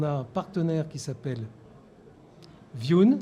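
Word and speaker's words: Vjoon: Et pour ce marché de base, donc, on a un partenaire qui s'appelle Viun. Alors là, c'est pas français du tout. Ça s'écrit VJ2ON. Et c'est un partenaire allemand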